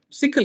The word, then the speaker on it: SYCL: And sickle, SYCL is pronounced as sickle.